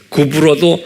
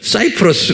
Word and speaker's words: 구브로: 그래서 이제 구브로도 사이프러스 그러잖아요. 그 Y가 U로 발음해요. 그래서 구브로 그러는 거예요.